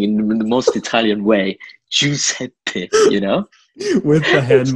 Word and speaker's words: Giuseppe: pronounce my name is Giuseppe, with a double P at the end, like Giuseppe, you know? Mm-hmm. Like this is like the purest form of, you know, pronouncing in the most Italian way, Giuseppe, you know?